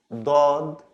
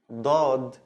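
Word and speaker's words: ضاد: It's also from the throat, like the D, but it's a strong D with open throat, like dod, dod, dod.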